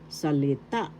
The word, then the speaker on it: salita: word is inagalog salita salita first syllable sa second syllable le third syllable ta the accent is in the third syllable salita So isal example root